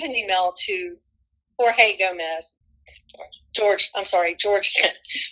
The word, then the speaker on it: Jorge: George. We call him Jorge, but his name is George.